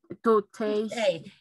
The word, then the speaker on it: toothache: terminan en como CH, toothache. Eso significa cuando tú dices dolor de cabeza, dolor de estómago, dolor de espalda, dolor de dientes. Profe, pero su pronunciación, eso es como una K, toothache.